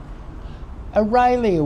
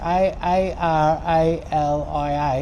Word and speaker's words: Aralia: Aralia would be another one too. And you get How do you spell that? Aralia, A-R-A-L-I-A, Aralia.